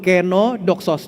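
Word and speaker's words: κενόδοξος: Cara bacanya yang di baris kedua, kenodoxos.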